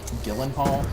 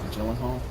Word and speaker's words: Gyllenhaal: did you perfect but apparently it's pronounced Jake Gyllenhaal not Gyllenhaal really yes because I read Maggie Gyllenhaal which is funny because Maggie you know there's a ghee in there so I didn't put